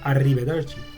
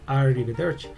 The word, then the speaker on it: arrivederci: Yeah, the lower R in Spanish is R, but in Italian, no. You don't say arrivederci. No, it's arrivederci. So she needs to know